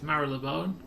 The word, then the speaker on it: Marylebone: next stations off oh the next station is marilyn bone more motherboard whichever way you uh prefer to pronounce it i've always known it's marylebone one thing that you